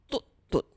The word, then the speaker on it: Tut-tut: The original pronunciation of my name is Tut-tut. Tut-tut. It's Hakka.